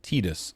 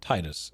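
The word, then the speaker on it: Tidus: So brownie points is saying the reason that the main character of Final Fantasy 10 is pronounced Tetus and not Titus is because his name comes from the Okonowan word for sun and Unis is for the moon.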